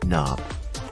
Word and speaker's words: knob: repeat after me door knob the K is silent also to be found